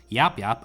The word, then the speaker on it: Yapyap: So I watched a video on this and I was told that the correct pronunciation is Yapyap, and then in all caps, the Destroyer.